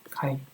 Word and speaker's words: chi: 이 카이라는 말은 이 K의 그리스어죠. 이렇게 카이. 그래서 영어로는 이렇게 CHI 이렇게 쓰거든요. 치스크 이렇게 씁니다. 카이 스퀘어라고 읽고요.